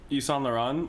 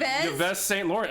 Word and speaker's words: Yves Saint Laurent: I was like, Yves Saint Laurent. I mean, look, why is there a V there if you don't pronounce the fucking V?